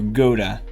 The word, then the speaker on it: Gouda: This is Gouda cheese, or Gouda, as people apparently say, pronounce it in English.